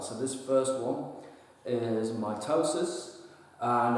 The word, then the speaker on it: mitosis: this first one is mitosis and I've spelled it out sort of phonetically here underline the toe so that you can